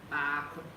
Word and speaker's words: baako: so it's b, a, k, o, baako, o, baako.